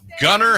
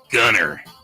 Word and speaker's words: Gunnar: Dave, you went with Gunnar Henderson of the Baltimore Orioles. That's his name? Henderson. Yes, I believe it's pronounced Gunnar.